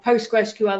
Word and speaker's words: PostgreSQL: about the open source SQL library Postgres, or PostgreSQL as I discovered by the founder, it's pronounced, the other week.